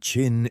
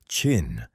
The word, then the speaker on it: Qin: The word Qin is pronounced roughly like the English word chin, and it is from this word, Qin, the name of a